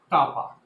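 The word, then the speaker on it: κ: Next one is conductivity or a specific conductance, which is written as K and is pronounced as kappa.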